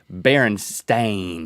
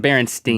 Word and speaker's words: Berenstain: on is over us how their name is spelled Berenstain it's not sting not staying I'm Berenstein don't make that much